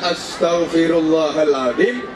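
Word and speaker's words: أستغفر الله العظيم: Bukan ash, itu sin besar, ash, liru, tapi kecil, as. Kemudian te, ini beda dengan T karena T Astaghfirullahaladzim.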